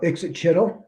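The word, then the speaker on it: Ixitxachitl: I used to read words as glyphs instead of phonetically. Okay. And so Ixit because I skipped a syllable.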